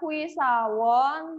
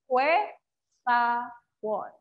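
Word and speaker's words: 회사원: Jadi bacanya bukan hui sawon, tapi jadi hue sawon.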